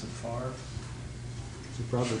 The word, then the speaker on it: Favre: Well, the quarterback for the Packers is spelled Favre and they pronounce it Favre.